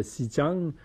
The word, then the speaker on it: Xinjiang: Le Tibet que les Chinois appellent le Xinjiang, X en passant, ça se prononce S en chinois.